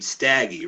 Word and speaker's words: Stoeckigt: And for everybody, you pronounce your last name Staggy, right? Correct. Almost just like it's spelled, or something like that.